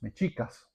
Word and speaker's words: Mexica: El más poderoso fueron los Mechicas, que era la unión de Tenostochtitlán con Tatelolco. De Mechica viene la palabra Mechico, es una mala pronunciación de los españoles a a México, a a Mexica, México.